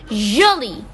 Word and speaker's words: jolie: For both masculine and feminine, jolie is pronounced as the same. Jolie means pretty. So for a boy and for a woman or for a girl or for a man, jolie, we have the same pronunciation. There is no difference in the pronunciation.